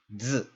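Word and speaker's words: zi: And that's this syllable right here, which is pronounced z. So this syllable is basically pronounced like just the consonant that you see, the Z, and the I isn't really pronounced.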